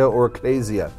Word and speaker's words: Ecclesia: is the church so the Greek word for church depending on how you say it is Ecclesia oraclesia it it means an